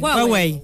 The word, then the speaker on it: Huawei: Cómo se pronuncia Huawei No sí hwei está bien Sí está bien dicho Bueno les